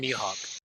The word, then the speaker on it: Mihawk: Raccoon Mihawk.